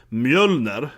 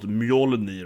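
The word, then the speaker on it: Mjölnir: And for that matter, of course, this thing is called mjölner and not mjolni, right?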